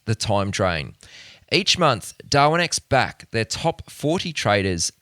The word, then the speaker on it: Darwinex: Just to spell that out for you, DarwinX is spelled DARWINEX.